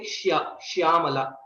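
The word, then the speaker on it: श्याम: We don't say Shyamala. Okay. And also Neelam Megha Shyama. Krishna is also called Shyama. It is not Sha, it is Shya.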